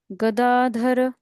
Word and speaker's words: गदाधर: इत्यस्त्रमस्त्रम धनवा गदा धर धर नहीं धर धर धर बहुत श हो गया वो मीनिंग पूरा चेंज हो जाता है।